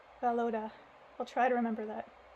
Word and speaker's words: Volodya: Oh, they're telling me here in the footnotes how to pronounce his name. It's Valoda. Valoda.